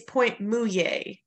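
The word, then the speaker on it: Pointe Mouillée: as a note um it's point muye so moo and then yay well yay yeah all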